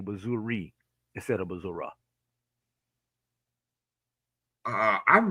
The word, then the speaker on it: Missouri: uh let me see I've always said Missouri I'm from the Midwest is that how do you say it I say Missouri but when you get between those two cities going down 7 yeah a lot of people say Missour oh jez okay or